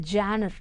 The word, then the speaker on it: genre: So the first thing is the genre. How to pronounce that word?